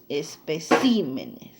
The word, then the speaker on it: especímenes: por la sílaba tónica dicen o bien espécimen y está en la ela tilde mira y al pluralizar se cambió ya no en él sino en la y especímenes muy bien el otro es